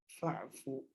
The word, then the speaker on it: فَاعْفُ: And because this is Hamza al-Wasl, when you have the fa there, then you don't have to read, then you don't pronounce this dhamma, you go directly to the sukoon and you say fa'fu. You get rid of this and you say fa'fu anni.